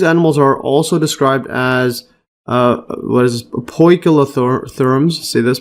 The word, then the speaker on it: poikilotherm: Similarly, homeothermy is more costly than poikilothermy.